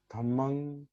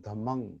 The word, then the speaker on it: धम्मं: पाली शब्द जो है, पाली उच्चारण, बुद्धंग, धम्मंग, संघंग, इसमें मकारांत नहीं है। पाली में मकारांत नहीं होता। पाली में अनुनासिक क्या कहते हैं उसको, होता है, नहीं, म नहीं, अनुस्वार। अनुस्वार। बुद्धंग, धम्मंग, संघंग, एकं समयं